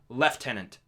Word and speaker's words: lieutenant: know that yeah leftenant it's spelled this same but they pronounce it leftenant we looked into it